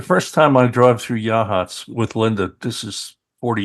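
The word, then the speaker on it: Yachats: laughed because she's from Seattle I said it's pronounced yahs I said where's the yah anyhow it's a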